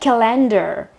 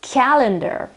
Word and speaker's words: calendar: Another word that is often mispronounced is calendar. Calendar. It's not calendar. I hear that very often, and not only in Italy, so it's calendar.